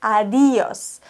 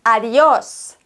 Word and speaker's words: adiós: neigen dazu zu sagen adios adios mit Betonung auf dem i aber wir haben bei adios einen Akzent auf dem O und deshalb müssen wir das O betonen ados ados okay das